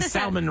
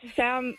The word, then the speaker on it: salmon: Salmon. Salmon. Silent right. Pretend there's no Sally. Your name is Sally. It's not Salmon. It's salmon. Yeah. Think of Sam and on salmon.